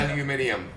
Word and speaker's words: aluminium: Steel and aluminum are our highest two, and How do the British say aluminum? It's way different. aluminium.